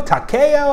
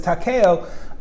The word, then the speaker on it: Takeo: Takeo? How do you pronounce it? And he tells me this. He says Takeo. It's Takeo. Pretty much even stress on all syllables.